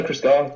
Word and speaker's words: Christgau: Laurie brought up Robert Christgau. Am I pronouncing that right, Laurie? Yeah, Christgau, I think who is kind of the preeminent